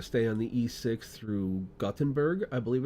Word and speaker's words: Gothenburg: It's basically Gothenburg in English, or Göteborg in Swedish if you want to be fancy.